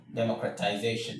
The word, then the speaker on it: democratization: So, we have demo cra ti za shun. Democratization.